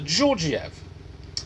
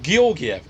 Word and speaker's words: Georgiev: know that you have a man called Alexander georgiev or georgiev depending who you ask now Mr Georgia was